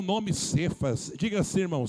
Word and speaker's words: Cefas: que é o nome Cefas. Diga assim, irmão, Cefas. Cefas, irmãos, é um nome grego, oriundo do aramaico, que o grego ele pronuncia Kefa, Kefalis.